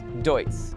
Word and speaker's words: Deutz: planet under one name most people can't even pronounce: Deutz.